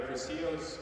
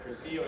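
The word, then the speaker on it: cursillo: And crucio is spelled with the Spanish, C-U-R-S-I-L-L-O.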